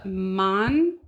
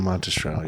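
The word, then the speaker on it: Monastrell: Italian red blend so it's a monest I just pronounced that wrong monstrell yeah 70% 20% SRA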